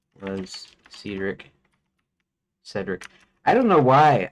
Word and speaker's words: Cedric: Because um I almost pronounce it like seed brick. uh do because of this now in my head Cedric is uncommon compared to the standard pronunciation British American Cedric with a short E as in pet.